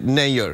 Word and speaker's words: Nayyar: name is like Kunal Nayyar like it's not you know is it not yours it's like it's like actually an NDA you pronounce it nay you're like mayor like John Mayer you related he's a